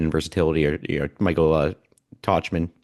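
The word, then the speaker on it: Tauchman: versatility or you Michael Tachman, how he's pronounced Tokman Talkman like talk man talking talking man.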